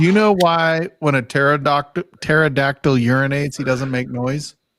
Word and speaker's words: pterodactyl: Do you know why when a pterodactyl urinates, he doesn't make noise? Why is that? Because the P is silent.